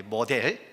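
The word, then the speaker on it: model: 마들 그러더라고요. 모델, 마들. 그래. 왜 어머니를 왜 찾아? 근데 모델, 우리 한국식 발음으로 모델이.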